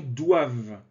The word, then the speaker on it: doivent: Attention, doivent. On ne prononce pas le ENT.